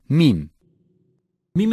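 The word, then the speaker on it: ميم: is a weak consonant mim-mim is pronounced by meeting ellipse MIM is a weak consonant nun nun is articulated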